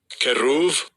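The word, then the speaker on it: כְּרוּב: sheriff Strong's age 3742 keruv see that's how it's pronounced in Hebrew cherubim okay an Angelic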